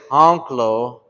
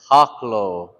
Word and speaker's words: haklo: Don't say honklo, say haklo.